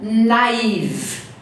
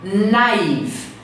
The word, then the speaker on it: naive: very easy going we and then you have naive naive pay attention to the pronunciation naive naive people who believe that everyone is always